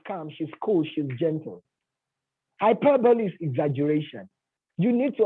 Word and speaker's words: hyperbole: Mind you, some of you call it hyperbole. It's not hyperbole. It's pronounced hyperbole.